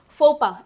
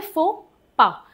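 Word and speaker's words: faux pas: जैसे फोपा वर्ड है एफ ए यू एक्स पी ए एस। फोपा। इसको बोलते हैं फोपा। एक्स और एस साइलेंट है।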